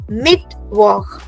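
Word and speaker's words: Mittwoch: ऑफ द वीक this day falls in द मिड वीक सो we call it मिड वॉक मिड वॉक alright now moving ahead to द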